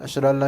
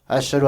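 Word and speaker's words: أشهد: Allahu akbar asaduahaillallah asu asadu ilahaillallah asyhadu alla ilahaillallah yang benar apa Ashadu Alla ilahaillallah makanya kat Jan Pak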